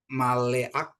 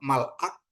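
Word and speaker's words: מלאך: sopit dengan tanda spa, maleak bukan malak, tapi spa tidak dibunyikan, artinya malaikat ya ini. Malak gitu ya, malak. Mal ya seharusnya kan maleak gitu ya, maleak. Tapi ini spa, jadi spa silent, jadi e-nya itu tidak dibaca gitu ya.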